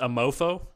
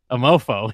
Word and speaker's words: Amour Fou: episode of this season I'm all fool that's pronounced a mofo a mofo yeah written by Frank